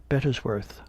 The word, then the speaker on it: Bettesworth: "Sir," says he, "I am Sergeant Bettesworth." In his usual pompous way of pronouncing his name in 3 distinct syllables, "Of what regiment, pray?"